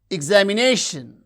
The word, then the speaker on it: examination: Examination, examination, examination. You can see the stress syllable is nei, that receives primary stress.